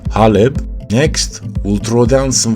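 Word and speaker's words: حلب: Next, we throw down some Aleppo pepper, or as it's properly pronounced, haleb.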